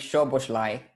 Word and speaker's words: Szoboszlai: Szoboszlai.